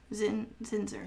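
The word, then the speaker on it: Zinsser: Zinzer.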